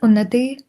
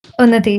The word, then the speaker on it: Unati: Uh, so my name is Unati, but so many people struggle to just uh pronounce that. That's why I put it as Unity. Uni. Uneti.